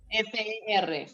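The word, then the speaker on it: fer: Se escribe F-E-R, fe.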